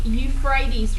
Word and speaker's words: Euphrates: This is the Euphrates River. E-U-P-H-R-A-T-E-S. I'll spell it again.